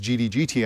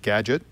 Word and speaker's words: gdgt: or founded uh as gdgt I know that some uh one way to pronounce it is just Gadget the other one is GD GT I personally prefer GD GT yeah me too yeah